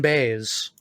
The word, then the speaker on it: Baez: Joan Baez. So that's another Led Zeppelin cover. Baez. Yeah, Joan Baez, right. I always mispronounce her name like fucking the guitarist for Red Hot Chili Peppers.